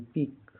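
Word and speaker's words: peak: जैसे पी ई ए के पिक पी ई के पिक पिक माने इ ए का उच्चारण लंबी ई की तरह होता है।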